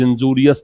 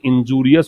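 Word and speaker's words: injurious: अगर आप स्मोकिंग करते हैं तो आपने सिगरेट की डिब्बे पर देखा होगा, smoking is इंजूरियस to health. इसका प्रोनाउंसिएशन इंजूरियस होता है, इंजरियस नहीं होता, ठीक है।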